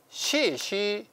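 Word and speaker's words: 士师: 시 이렇게 발음합니다. 사는 시고 또 사는 시라고 발음하는데요.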